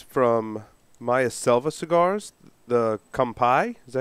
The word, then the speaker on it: Kampai: Will, I smoked one of the ones from Maya Selva Cigars, the Kampai.